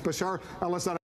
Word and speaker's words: Bashar al-Assad: Syria with Bashad Al Bashar al-Assad in in charge. Bashar al-Assad. I know you've mispronounced his name a few times, uh but uh it's Bashar al-Assad.